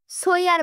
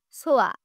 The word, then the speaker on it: সোয়া: সোয়া মুখ ফুলিয়ে বলল, আমার নাম ঠিক করে উচ্চারণ কর। আমার নাম সুইয়া না, সোয়া।